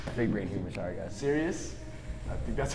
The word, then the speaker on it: Sirius: Sirius.